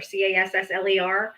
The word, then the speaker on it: Castler: If you guys don't know who Noel Castler is, his name is spelled Noel, like a girl, Noel, but it's called Noel Castler, Cassler.